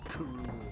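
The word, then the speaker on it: K. Rool: Smash Brothers ultimate uh they actually pronounce it Kuru like a like all one word and we're done that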